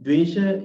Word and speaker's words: dvesha: So, and then the dosha, in dvesha is in Sanskrit, dvesha, the dvesha, right? That's how pronounce that word. In Pali language, we can pronounce that like dosa. There is no sh, right?